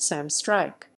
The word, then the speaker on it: Struyk: the artist name of sam strike pronounced sam strike strike is an american